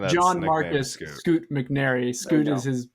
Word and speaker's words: Scoot McNairy: Scoot McNairy.